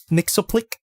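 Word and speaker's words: Mxyzptlk: uh mister mcmix mixo mixo click that's how you pronounce it he's pretty cool especially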